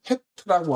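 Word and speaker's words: חית: 이게 붙여 있을 때 우리는 헤트라고 하고 음가는 희응인데 아까 앞에 있었던 기도하는 사람의 모양도 희응인데 이것도 희응이잖아요. 그런데 발음상은이 가래 그 뭐 그고 후두 후이 강하게에 영향을 미치는음 의미입니다.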